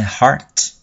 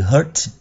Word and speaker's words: heart: broke My Heart heart heart là âm a trong nhé Heart các em hay đọc nhầm từ này thành từ Hurt Hurt là Là Nỗi đau còn Heart là trái tim broke là đập vỡ